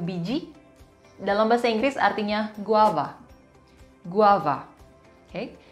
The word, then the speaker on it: guava: dalam bahasa Inggris artinya Guava Guava hei ingat pengucapan huruf v dalam bahasa Indonesia dalam bahasa Inggris sedikit berbeda daripada F bukan Guava tapi guava Hai Guava Oke ke